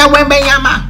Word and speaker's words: Wembanyama: Victor Wembanyama versus the Clippers.